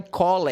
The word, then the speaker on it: called: O som da letra L no final, ela vibra. Então você pronuncia assim, ó. Called.